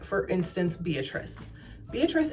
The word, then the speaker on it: Beatrice: Beatrice ends in the S sound, but it's like a C E at the end.